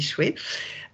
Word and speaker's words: shui: qui est en haut et chouette ça se prononce on dit pas je suis on dit chouette c'est l'eau donc l'idéogramme d'en bas donc c'est